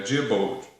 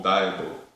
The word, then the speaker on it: Diebold: É a Diebold ou Diebold, depende da pronúncia. Bom, estou no Brasil, eu falo Diebold.